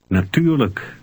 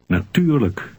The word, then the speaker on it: natuurlijk: Natuurlijk. Did you remember to pronounce the unstressed L-I-J-K ending? Luk. Read 5 again. Natuurlijk.